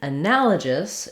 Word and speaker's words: analogous: But in analogous, it changes, it changes to a g sound, where letter G can also say the g, like guy or great. We do have the same first three syllables, anala, and then we just change to the g sound, and again, a reduced vowel, schwa. You might even hear it as an I sound, analogous.